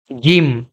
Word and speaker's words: ج: হা sorry জিম এই জিম আপনারা simply উচ্চারণ করতে পারবেন একটু শক্ত করে উচ্চারণ করবেন জিম জিম জিম আমার সাথে কয়েকবার উচ্চারণ